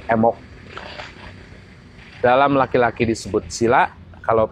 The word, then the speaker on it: embok: Kalau perempuan disebutnya embok. Sebetulnya ditulisnya MBOK, M-E-M-B-O-K. Tapi dalam pelafalan keseharian orang Sunda, B itu luluh, sedikit luluh. Jadi tidak embok, tapi menjadi emok.